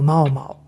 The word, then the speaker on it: 猫猫: 例えば主人公のまおまお。これは日本語の読み方ではないのは分かりますよね。